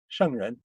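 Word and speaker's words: 圣人: Shengren. That's the E is pronounced like shung, like an kind of.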